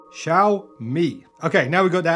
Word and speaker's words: Xiaomi: how you pronounce it it's shall like shaolin monk shall me okay now we got